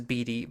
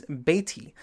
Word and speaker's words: Beatty: Well, I've been pronouncing it as Beatty, but in actuality it is Beatty.